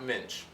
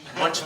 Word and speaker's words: Muench: I know your name's pronounced Muench. He was never Muench. He was always Muench. Munch. He was always Munch, right? And he would tell us for years, it's Muench. No, it's not, Paul.